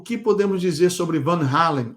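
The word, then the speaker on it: Van Halen: que podemos dizer sobre Van hen ou van Helen na pronúncia americana cuja canção Running with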